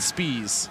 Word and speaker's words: Spies: And David Spies, not Spies, as we have been saying incorrectly. So I know you wanted to, that was your idea, was Spies, and I said Spies.